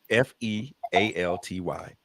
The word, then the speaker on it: fealty: It is spelled Fealty. Okay, like realty. Yep. Okay, fealty. So the way that they talk about it, Okay.